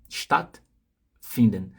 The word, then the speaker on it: stattfinden: E esse A é curto, você não vai não é uma vogal que você vai prolongar, porque tem uma regra de pronúncia aqui que é a seguinte: vogal antes de consoante dupla.